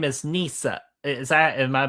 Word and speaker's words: Nissa: Uh, and your name is Nissa. Is that am I pronouncing that right? Nissa. Nissa.